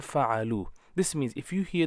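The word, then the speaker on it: فَعَلُوا: So pronunciation will be fa'ala, fa'ala and fa'alu.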